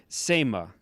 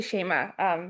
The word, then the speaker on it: Shema: Seema, I think that's how you say it. Seema. Hi, it's actually Shema.